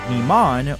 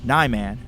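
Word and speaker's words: Niman: the two more directly the two ways people pronounce this form is either Iman or Neyman again I go with the idea of Japanese vowels which is why I tend to go with the first pronunciation in the same way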